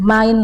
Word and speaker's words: mein: Kemudian bacanya main bukan main. Jadi EI itu bacanya AI, mein Name ist.